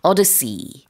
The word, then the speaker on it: odyssey: 자, 우리 오디세이라고도 부르는데 영어로는 odyssey 이렇게 발음을 하고요.